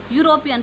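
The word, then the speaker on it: European: अब ई की प्रोनाउंस हम कैसे करेंगे, इसे वाई यू, यूरोपियन।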